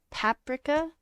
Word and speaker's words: paprika: that's lancelot paprika paprika so like you put the emphasis on the pap paprika paprika basil paprika we